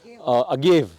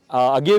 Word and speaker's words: agave: Agave. Agave is the genus, or the English name is, or the anglicized name is agave. In Mexico, they call it agave because how Spanish pronounces.